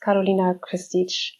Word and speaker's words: Karolina Kristic: With me today is from Germany, CFO and Chancellor of the Frankfurt School of Finance, Karolina Kristic. Do I pronounce the name correctly?